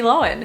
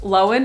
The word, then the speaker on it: Lohan: roommate was miss lindsay lohan oh my god they were roommates i only recently learned that her name is pronounced lowen and not lohan and at first it